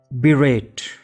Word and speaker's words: berate: and anatomize into berate berate has two syllables and we pronounce it as berate berate berate now let's understand